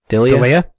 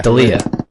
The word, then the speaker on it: D'Elia: D'Elia? Chris D'Elia. D'Elia. Yeah. I always want to say Delia, and I know that's not right.